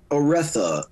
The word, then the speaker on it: Oretha: It's Oretha.